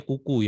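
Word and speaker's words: cuckoo: tahu ini ini namanya burung kuku bacanya kuku ya cuo bacanya kuku jadi si burung buku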